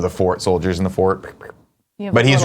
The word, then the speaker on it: forte: perfectly and impeachably correct, you will pronounce the word fort, meaning something that is one's strong point, ideally to the word, identically to the word fort, and reserved for forte, pronounced only for the musical term.